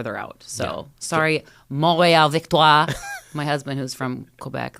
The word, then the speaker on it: Victoire: So sorry, Montréal Victoire. My husband, who's from Quebec, like yells at us every time we say it wrong. Because I definitely thought it was victory.